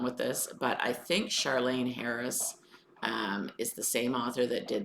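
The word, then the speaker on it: Charlaine: Charlene Harris, I think it's pronounced Charlene, and it's called Read Murders.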